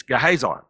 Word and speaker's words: Gehazi: We're going to say it like Ray says it. It's Gehazi. Gehazi.